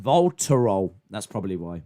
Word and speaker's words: Voltarol: Hey Google, what's Volatrol? No! Idiot! Oh my god, I'll just type it. I feel like I'm going back to the dark ages. What's it called? It's pronounced Voltarol.